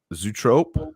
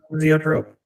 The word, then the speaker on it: zoetrope: How do you say this word, by the way? Zootrope? Zoetrope. Zoetrope. All right.